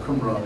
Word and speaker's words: Qumran: So it's a Qumran, it's just a K sound. So people are starting to pronounce it as Q. Just stop them and tell them, take it easy, relax. It's just Qumran.